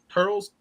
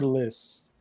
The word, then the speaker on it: Turles: Turtles? Like turtles? Turles. Without the T.